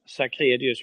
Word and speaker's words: Sacrédeus: Sacrédeus, we pronounce it in Swedish.